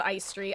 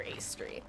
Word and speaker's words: Aestri: anniversary chapter last year I've decided that instead of ice tree I will simply call her Ace tree because ice Street it